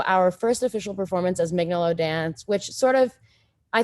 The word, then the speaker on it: Mignolo: And Mignolo, although if I say it correctly, the Italian way, I believe it's Mignolo, but I always say it a horrible American way.